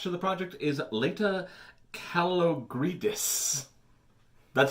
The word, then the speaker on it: Kalogridis: The KOTOR movie is moving forward, and now attached to the project is Leta Kalogridis. That's how I pronounce the name.